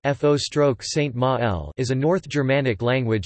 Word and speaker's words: føroyskt mál: Faroese, Faroese, Faroist Mal, pronounced F-O stroke Saint Ma-L, is a North Germanic language spoken as a